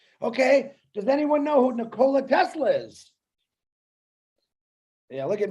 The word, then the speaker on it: Nikola: caught you're talking about nikolai tesla no it's nicola actually if you pronounce it correctly okay i beg the